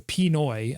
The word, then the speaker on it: Pinoy: Pinot. No, it's not Pinot Grigio. Pinoy.